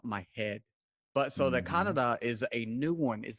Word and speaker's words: Kannada: it says their main language at least is pronounced canada yes exactly oh you got a spot on